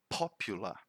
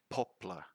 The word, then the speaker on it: popular: word now the british the british version of it would be popular popular and the american is quite close popular popular because they pronounce the r at the end right popular but the thing is we don't say poplar or poplar no popular that's the way to